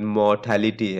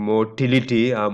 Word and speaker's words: mortality: is that you know the proper pronunciation of the word mortality i i hear even professors saying motility mortality is what you see in sperms right motility or mortality right that's not this this mortality death rate right morbidity sick